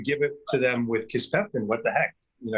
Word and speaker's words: kisspeptin: Kisspeptin, that's how you say it. I don't know what I was saying. Kiseptin, Kisspeptin.